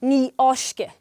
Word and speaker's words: Ní fháiscfidh: And once more as it's future tense it is spelled FIDH but you don't pronounce the "f" ever. So. everybody say "Ní fháiscfidh" Now you say that.